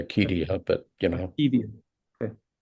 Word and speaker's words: acedia: Would you pronounce acedia? How do you say that? You can say it that way. I say Acedia, but you know.